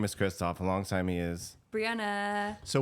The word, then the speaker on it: Christoph: You can't even pronounce her name right. That's why I say Christoph. I don't say Christopher anymore.